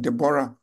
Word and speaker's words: Deborah: story of debor debor I know others call the pronounced the name as Deborah uh but I think the name is more like debor Deborah uh according to